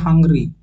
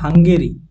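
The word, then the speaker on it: Hungary: Sergio ম্যাটারেলা next হাঙ্গেরি অনেকে এটাকে উচ্চারণ করে হাংরি হাংরি কিন্তু নয় এটা হচ্ছে হাঙ্গেরি যার রাজধানী হচ্ছে বুদাপেস্ট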